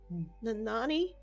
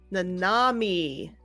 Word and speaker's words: Nanami: Nanami. Nanani? I'll write it down. Am I even saying it right? You were close. Nanami. Yeah. With an M.